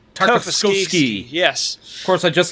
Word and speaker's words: Tartakovsky: I usually stumble with long words more than 2 syllables. Tartakovsky. Tartakovsky.